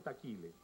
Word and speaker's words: Taquile: su apellido como herencia taquila bajo el efecto de la pronunciación local se convirtió en taquile y así se llama